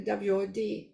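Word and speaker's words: wot: share with you is the what w-o-t uh pronounced more like a WOD it's a tie circular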